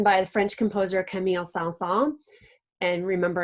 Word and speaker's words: Saint-Saëns: the French composer Camille Saint-Saëns. And remember, in French, you do not pronounce all of the letters.